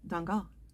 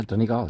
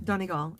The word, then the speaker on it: Donegal: was at castle that dunga am i saying it right yeah danny gal yeah donegal okay um that was